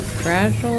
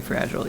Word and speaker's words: Fragile: So her name is actually Fragile. Yeah. I wasn't just insulting her. Not yet, at least. She's French. I think it's pronounced fragile.